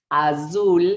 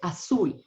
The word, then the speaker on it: azul: like a soft B the Z in Spanish sounds like an S so we don't say um Azul which is blue we say asul it's more like an